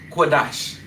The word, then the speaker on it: Qadash: So being that they are conjoined, you would drop that a for sha and you would pronounce it dash. So lashan cuadash.